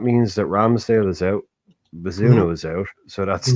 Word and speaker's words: Bazunu: How do you pronounce it? Bazunu, Gavin Bazunu.